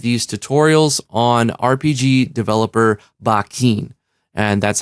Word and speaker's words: Bakin: see more of these tutorials on RPG developer Bakken and that's how it's pronounced bikin I know you want to call it bacon I want to call it bacon too and